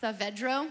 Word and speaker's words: Saavedro: Also, I've been told that it's Saavedro, which is very difficult to pronounce.